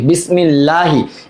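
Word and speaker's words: بسم الله: বারিক করে পড়ার নিয়মটাকে, আল্লাহ শব্দের তাসদিদের ডানে জের থাকলে আল্লাহ শব্দের নামকে বারিক বা পাতলা করে পড়তে হয়, জের থাকলে, এই যে বাসেন জের বিস মিম লাম জের মিলে, এই যে তাসদিদের ডানে জের আছে, বিসমিল লাম খারাজ বললা হাজিরি, বিসমিল্লাহি, এখানে কিন্তু আমরা আকার দিয়ে ল পড়ব, বিসমিল্লাহি, আর ওইটা ছিল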